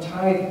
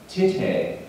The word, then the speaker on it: tithe: never heard the term tithe before, and I was thought it was pronounced tite. No, it's not. It's not pronounced tite. It's pronounced tithe.